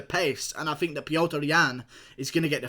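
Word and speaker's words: Petr Yan: Piotr Yan, as it's correctly pronounced.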